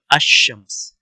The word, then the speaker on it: الشمس: یعنی القمر اور الشمس، یہاں پہ کیا فرق آ رہا ہے کہ ينطق السکون علی اللام، کہ یعنی یہاں پہ جو لام کے اوپر سکون ہے اس کو ہم بولیں گے یعنی القمر، ٹھیک ہے. لیکن یہاں پہ ہے جو لام ہے یہ اس کو یہ بولا نہیں جاتا، تو اس کو الشمس بولتے ہیں.